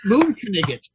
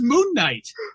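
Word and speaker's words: Moon Knight: And I said, "It's pronounced moon kanigot." And he said, "I thought it was moonight." And he said, "No, you have to remember he's Egyptian."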